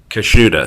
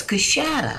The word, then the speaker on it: Coushatta: between Shreveport and Alexandria kashuda is that correct no it's cushada cachatta okay see I